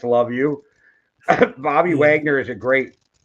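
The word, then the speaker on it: Luvu: just gonna say it's probably not pronounced Lau but it's love you Bobby Wagner is a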